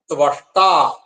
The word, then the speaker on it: ത്വഷ്ടാ: അടുത്തത് ത്വഷ്ട ത്വബ ഷ്ട ഉച്ചാരണം ശ്രദ്ധിക്കണം ത്വബ ത്വ ത്വബ ഷ്ട ഷ് ഇട്ട് ആ ത്വഷ്ടാ അത് ചിലപ്പോൾ നമ്മളൊക്കെ ചെല്ലുമ്പോൾ പലപ്പോഴും പറ്റും ത്വഷ്ടാ എന്ന് ചൊല്ലും അപ്പൊ അത് ത്വഷ്ടാ എന്ന് ചൊല്ലരുത് അത് ദുഷ്ടാ എന്നൊക്കെ ആവും ചിലപ്പോൾ അതൊന്നും പാടില്ല ത്വവാ